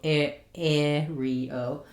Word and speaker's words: scenario: Same word, two different correct pronunciations in US English. Whichever you're more comfortable with, scenario.